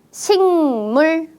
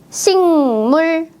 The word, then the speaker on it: 식물: 선생님의 발음을 잘 들었나요 어떻게 읽었어요 식물 아니에요 식물 식물 어때요 받침에 그 자음이 뒤에 있는 무 비음을 만나서 식물이라고 바뀌었습니다 그 자음은 응 받침으로